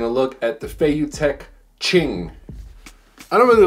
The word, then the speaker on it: Qing: Today, we are taking a look at the FeiyuTech Qing. I don't really like that name. I thought they should have had it pronounced King, but with a Q.